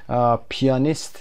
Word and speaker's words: pianist: تلفظ پیانیست به این شکل هست، پیانیست، یعنی استرس رو روی پی قرار میدید و خود پیانو، پیانو روی ا قرار میگیره.